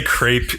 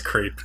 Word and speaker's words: crêpe: Yeah, you can say crepe. It's fine. Like half of the world says crepe. I know it's crepe. No, it's an accepted pronunciation. I'm just saying the accepted pronunciation is dumb.